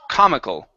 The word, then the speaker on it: comical: Okay, so the endings here, when we have a word that ends with an al, instead of pronouncing it al, it's ul. Okay, so it's comical. Comical. Okay, one more time. Instead of call, it's kul, like people.